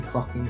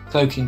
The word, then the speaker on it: cloaking: Osgood believes it is a clocking device. Cloaking device, even. Not clocking. That's how it's spelled, not how it's said.